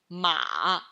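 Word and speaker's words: 妈: a the third tell ma if the character mother is following the sound of the character horse then what's the pronunciation of character mother ma a the first count ma when the character borrows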